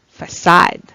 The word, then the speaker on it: facade: statement of something next oh how do you pronounce this it's facade facade it means the front of a building